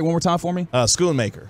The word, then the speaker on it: Schoonmaker: Because I always want to pronounce that H like Schoon, Schoonmaker or Mocker.